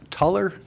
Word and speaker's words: Tuller: Item number 7, A, Planning Commission appointment, Trevor Tuller. Is that how we pronounce that?